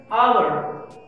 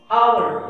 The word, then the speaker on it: hour: The second word, hour, hour, H is silent here.